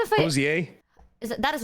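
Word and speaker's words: Hozier: Hosier? That is not how you fucking pronounce his name. Hosier? Oh, it's Hosier. Hosier. Isn't it Hosier? That is the wrong emphasis on the wrong syllable there.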